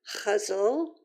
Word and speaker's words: ghazal: um Persian poets and I was taught to pronounce it huzzle although there's supposed to be an r in there that I can't make my throat do um so I'm going